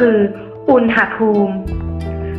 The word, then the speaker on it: อุณหภูมิ: แรก กัน นะ คะ คำ ว่า อุณหภูมิ ซึ่ง คำ อ่าน ที่ ถูก ต้อง คือ อุณหภูม คำ ต่อ ไป คำ